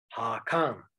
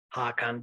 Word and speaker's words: Hakan: Hakan, değil mi? Fakat o gönül değil de köngül olan. Eski Türkçe'ye göre Hakan ne demek biliyor musunuz? Hakan değil onun telaffuzu aslında. Ne hocam? Hak an. Ve ayrı yazılıyor.